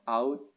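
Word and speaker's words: uit: Italia atau out out ini bacanya u i out out Italia Saya dari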